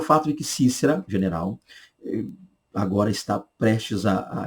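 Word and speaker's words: Sísera: dúvidas, muitos me perguntam, eu pronuncio Cícera ou pronuncio Císera, como muita gente diz. Eu ficaria mais com Cícera, tá? Já visto o fato de que o hebraico é Cisra. Cisra seria a pronúncia hebraica. Cisra, Cisra, da ideia mais de Cícera do que Císera.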